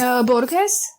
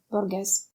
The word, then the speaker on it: Borges: Oh, you mean Borges? Yes. I think that's how you say it. I forgot the middle name or whatever. Borges.